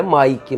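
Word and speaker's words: Mick: Mas é Mike, mas se escreve M-I-C-K.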